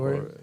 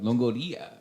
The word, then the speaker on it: Longoria: They don't have to roll the R if they don't need to. I say it like an Italian. Longoria.